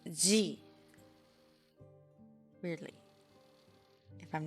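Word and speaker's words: ぢ: You pronounce this as G. This character is an exception in this set. It's not a D syllable, and yes, it's the same sound as G. It's similar, but it's different.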